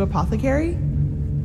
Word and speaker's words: apothecary: correctly you foresaw the death of the two apothecary thank you for pronouncing it correctly it does indeed but hey